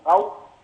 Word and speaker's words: Rao: Secondly, the professor that is working over there is named Professor Rao, or if you would like to call it Rao, but this is the right pronunciation name, Rao.